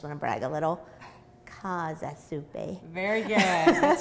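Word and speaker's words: Käsesuppe: And you made a German soup for us last time, which I still remember how to pronounce. Uh-huh. I just want to brag a little. Kasa Suppe.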